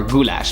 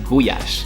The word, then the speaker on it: gulyás: So you've probably already heard about gulyás soup or goulash, but here they pronounce it gulyás.